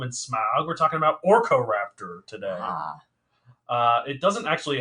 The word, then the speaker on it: Orkoraptor: speaking of gollum and smaug we're talking about orco raptor today uh it doesn't actually have anything to